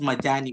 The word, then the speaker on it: Majani: Majani. Dr. did I pronounce Majani well or is there another way of pronouncing it?